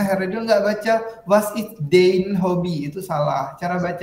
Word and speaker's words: dein: Nah, huruf EI dibaca AI dalam bahasa Jerman. Makanya Heredil nggak baca was is dein hobby. Itu salah. Cara baca yang benarnya adalah bagaimana? Was is dein hobby.